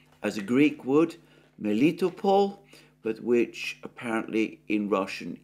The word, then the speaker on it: Melitopol: which I have pronounced as a Greek word, Melitopol, but which apparently in Russian is pronounced Miletopol.